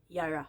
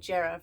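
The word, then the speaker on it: Jera: cycle of the year yara i was pronouncing it jarrah for a long time no the j is a y this is number 12.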